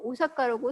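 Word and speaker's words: 大阪: 지금 우사카 우사라 얘기하지만 사실 어 일본어를 읽으면 오자를 길게 발음해 줘야 돼요 그래서 사가라고 얘기를 해야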